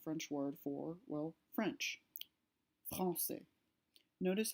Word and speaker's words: français: Français. Notice how the word is pronounced français instead of franquais. So it's changed to more of an S sound instead of a K sound.